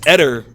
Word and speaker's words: Eder: It's Eder is actually how you pronounce his name.